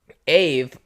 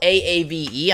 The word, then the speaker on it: Aave: Now, it's spelled A A V E. I'm pronouncing it Aave cuz like when you when you say Aaron with a double A, you say air run.